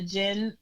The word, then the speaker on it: Djinn: I'm on Facebook, Djinn. The D is silent, so it's TARADJINN.